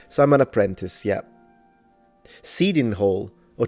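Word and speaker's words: Cheydinhal: Seeding Hole or Chading Hole. How do you pronounce it? Seeding Hole.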